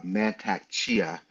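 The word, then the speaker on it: Mantak Chia: Um I knew one of the folks she was talking about, Mantac Chia is how you say his name.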